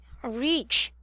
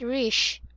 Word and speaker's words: reach: read this one ra reach not rich okay reach okay you have to smile when pronouncing it reach very good you know